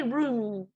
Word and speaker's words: room: pronounce it like that they don't say room they say roon living room living room